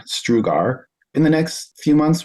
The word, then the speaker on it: Strugar: to get that but my last name is spelled St u a r strugar and the next few